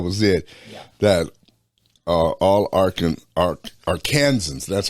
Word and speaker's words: Arkansans: That all Arkansans, that's how you pronounce that.